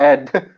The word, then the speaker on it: Edd: Ed and Ed is pronounced Ed. all Ed sounds the same no matter how many D's, man. You can have like 10 D's Yeah. in the back and those will be pronounced Ed.